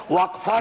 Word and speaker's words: वक्फ: और अलग अलग लोग इसका प्रोनाउंसिएशन अलग करते हैं, कोई वक्फ बोलता है, कोई वकफ बोलता है, ये अलग अलग धाराएं हैं इस देश की।